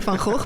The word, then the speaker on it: Van Gogh: Almost you already referred to it as Van Gogh. It looked very much like Van Gogh. No, I'm saying Van Gogh because that is how you pronounce it, but that's obviously difficult for non-Dutch